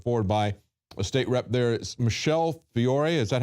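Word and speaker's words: Michelle Fiore: is being put forward by State Rep there Michelle Fior is that how you pronounce her name yes that's right okay uh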